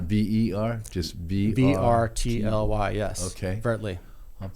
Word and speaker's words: vrtly: So vrtly is the name. How do you spell that again? vrtly.ai is the URL. Not V-E-R, just V-R-T-L-Y, yes.